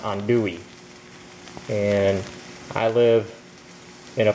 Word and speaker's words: andouille: me show you the package now it says it's spelled on do sausage but it's pronounced on Dewey and I live in a place where they